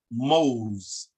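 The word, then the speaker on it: mowz: So OW is O, as in if you was to say the word for banana in Nuwaubic, Mose, Mose, M-O-W-Z, Mose.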